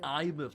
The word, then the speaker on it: Imeth: Imeth, that's how you pronounce it.